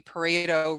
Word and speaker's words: Pareto: how do you say that p-a-r-e thank you pareto rule 80 of the time we're just trying